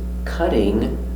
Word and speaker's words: cutting: She is cutting vegetables. Pronunciation. K, k, t, cut. Simple action, cut. Continuous. We change the sound t, the sound d.